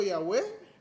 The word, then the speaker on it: Yahweh: Os estudiosos tentaram de diversa forma e trouxeram várias possíveis formas de pronunciar essas 4 letras. Aí temos Javé, Yahvé, Jeová e muitos outros que você já deve ter percebido, deve ter ouvido alguns. São só formas diferentes que encontramos de pronunciar essas letras YHWH.